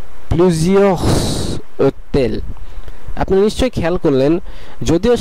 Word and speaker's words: plusieurs hôtels: উচ্চারণ করা হবে এবং এস এর সঙ্গে এই ও এর একটি সংযোগ স্থাপন হবে।